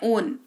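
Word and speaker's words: own: उच्चारण होता है ओन। ठीक है? ऑन नहीं ओन। होंठ को ना थोड़ा सा ऐसे तोता होता है। तोता के जैसे मुंह बनाना है। ओन है ना? ऐसे करना है। ऑन नहीं पढ़ना है।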